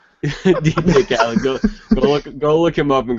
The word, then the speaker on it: Khaled: He didn't call him DJ called. Well, all right. What's the correct pronunciation? Fuck faces. He's so mad. It's DJ Khaled.